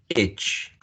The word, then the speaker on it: itch: scratch okay that's H itch itch and this one is each each each okay so careful with that because we have a an example of a minimal pair here on each each each itch careful because you're going